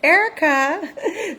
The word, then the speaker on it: Erica: so I got to drop the V. So I'm trying to just say Erica. It's Erica. So in case you're like, why is she doing that? And why am I pausing every time I say my name? Because I'm trying to remember not to say the V.